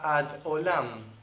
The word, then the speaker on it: ad Olam: Para siempre es una frase hebrea que se pronuncia ad Olam, hasta el Olam, que se traduce como para siempre en español.